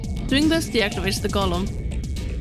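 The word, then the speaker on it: GOLM: which is of course golum much to his surprise this ends up being pronounced like golum anyway on a side note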